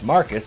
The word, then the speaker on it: Marquis: refuses to lock up marquis pronounce marcus because he's